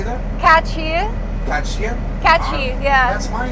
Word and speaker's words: Katchii: Katchii.